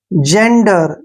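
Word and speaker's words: gender: एन डी ई आर जेंडर जेंडर में देखिए जी के बाद क्या आया है ई जब भी जी के बाद ई आता है तो जी का उच्चारण हम ज करते हैं क्लियर यहां देखिए जी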